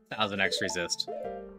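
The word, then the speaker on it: 1000xRESIST: Uh, it took me a while um to uh confirm I was doing thousandx resist. Yes, the X is pronounced.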